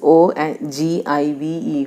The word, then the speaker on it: ogive: The spelling is O-G-I-V-E only, pronunciation is ogive only.